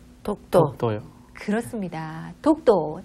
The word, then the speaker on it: 독도: 덕도라고 쓰셨죠? 위에는 덕도. 그리고 저는, 네. 밑에는? 그것도 독도. 독도. 저는 이 두 가지 오가 네. 너무 헷갈려요. 그렇죠. 어 발음이 어려워 하시는 네. 분들이 많이 계시더라고요. 어 발음을. 네.